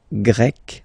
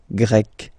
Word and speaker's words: grec: So you get the country, la Grèce, and then you get Grec, masculine form, Grec, feminine form. You write them differently, but then, if you listen carefully, Grec, Grec, you pronounce them the same way, okay?